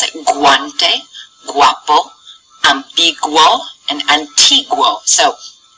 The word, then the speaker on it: guante: hard G sound however sometimes we do pronounce the U whenever it's next to a g and that is if there is an A or an O after it okay so here we